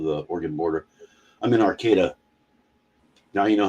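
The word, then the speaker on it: Arcata: miles south of the Oregon border I mean Arcada now you know how to pronounce it everybody pronounces it wrong they call Ara Arcada yeah Arcada it's a about 10 miles north of Eureka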